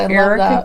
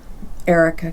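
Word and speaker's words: Arika: Erica Cowl. How did you spell it? It's A R I K A. So it's different, don't you think? Like air. Air.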